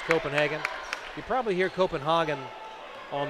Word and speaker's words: Copenhagen: So here, technically, it would be pronounced Copenhagen.